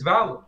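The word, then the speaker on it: Valour: No, you said it right the first time. Oh, really? It's Valor. It's Valor. Oh, yeah. Valor. Like Valorant. Okay. Oh, like yeah.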